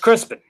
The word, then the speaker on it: Crispin: with or what but it's pronounced as Crispin even though it's spelled is Crispian and obviously